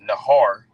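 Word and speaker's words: נהר: So when you get that word flood in the Hebrew, that word flood is pronounced nahar.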